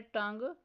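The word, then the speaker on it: tongue: Next word है टंग। इसमें से साइलेंट लेटर यू बॉक्स में राइट करना है।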